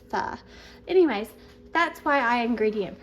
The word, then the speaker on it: pho: They pronounce pho as fa.